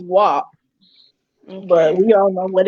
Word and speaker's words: WAP: was it just wap it's wap pronounced wah but we all know